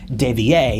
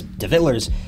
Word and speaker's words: De Villers: Now, some people insist on pronouncing Greg's name as De Villers, and others simply say it as De Villers, but we'll just call him Greg to keep it simple.